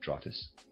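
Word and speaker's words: Drotes: And that's readers aside, that's spelled dr o tes. I am pronouncing that trotus.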